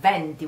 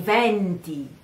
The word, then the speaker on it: venti: Lots of people say, pronounce this word venti, vento, venti. The problem is that venti is also a number, is the number 20. So it should be pronounced properly. Venti, I venti are the winds.